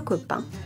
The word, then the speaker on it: copain: For example, the stressed syllable in le copain is pain.